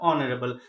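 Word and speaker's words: honourable: Student mistake करते हैं, हॉनरेबल पढ़ते हैं, बट इट इज नॉट अ हॉनरेबल, इट इज अ ऑनरेबल। माननीय, सम्माननीय, दैट इज कॉल्ड ऑनरेबल। तो आप प्रोनाउंसिएशन पे ध्यान देना है, इसमें हमें एच पे ध्यान नहीं देना है, एच इज a silent word.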